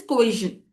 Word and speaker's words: coercion: You'll if you so the correct pronunciation is coision.